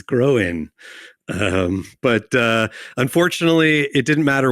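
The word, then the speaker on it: Gróin: That's how you pronounce it. That's what the accent on the I means, Groen.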